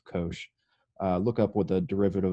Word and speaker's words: cosh: the derivative of cosh this is pronounced kosh look up with a